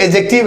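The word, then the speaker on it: adjective: ये एक एडजेक्टिव है, इसमें डी साइलेंट होता है। इसको एडजेक्टिव नहीं एडजेक्टिव बोलते हैं, इस बात का ध्यान रखिएगा।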